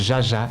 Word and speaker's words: Zsa Zsa: une grande vedette américaine zsa zsa plus t'il plus exactement prononce geagea gabor reds à gabor pour